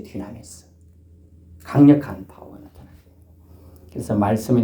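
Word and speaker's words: δύναμις: 다이너마이트의 그 헬라어예요. 다이너마이트 알아요? 불 붙여가지고 던지면 쾅 하는 이 폭탄의 원조적 발음이 디나미스예요. 디나미스.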